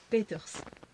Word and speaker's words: Peeters: Et ça se prononce? Peters.